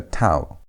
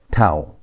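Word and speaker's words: תו: But when tau has no dagesh, the sound changes. Instead of pronouncing it as T, you pronounce it as TH. As if you want to say thin. That TH sound is how you pronounce tau without a dagesh.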